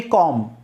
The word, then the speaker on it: comb: ये आपको जो मैं ट्रांसक्रिप्शन बताऊंगा, जब फोनेटिक्स पढ़ाऊंगा, जब बताऊंगा, जैसे COMB कॉम, TOMB टूम, एम के बाद जब भी बी आएगा तो बी साइलेंट रहेगा, इतना ध्यान रखना है।